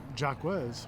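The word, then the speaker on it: Jacques: Jacquez. It's Jock Patrick.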